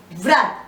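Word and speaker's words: व्रत: The next vyanjan, this is written as vrat and pronounced vrat, where v is just touched upon, r is pronounced fully.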